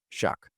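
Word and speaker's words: Shough: Shuck. Tyler Shuck threw for more than 300 yards against the Jets.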